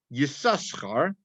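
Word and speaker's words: Yissachar: actually names yasaka now yosakura is spelled with two samaras and this first time that it's mentioned it's actually pronounced yasaskar and then from that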